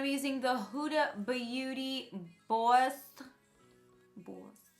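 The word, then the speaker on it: Bawse: using the huda beauty bossed boy my boss like you're someone's boss but it's spelled BA wse so you're a boss with a little bit of a New York accent in there um and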